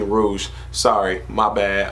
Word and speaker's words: Rouge: So I believe that is Rogue. I mean Rouge.